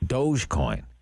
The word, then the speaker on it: Dogecoin: Dogecoin. Yeah. It's 5 cents. Maybe that's the one I can afford, actually. Well, Dogecoin.